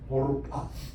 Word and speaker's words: Orpah: 그들이 거기에 거주한 지 10년쯤에 오르바, ORPAH 스펠링이 이렇게 되죠. 오르파.